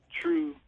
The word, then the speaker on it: 2Ru3: the number three and it's pronounced true like t r u e okay okay that's different